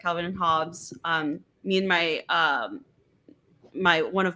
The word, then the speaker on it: Hobbes: And then when we opened the Sunday comic print, there was a post-it note on there that said Hobbes rhymes with jobs, Oh, nice.